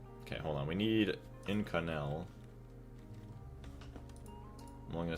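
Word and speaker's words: Inconel: So how do we even say it in canel pronunciation?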